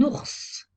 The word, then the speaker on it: ours: il ya des exceptions un ours on prononce le s final une lettre mu est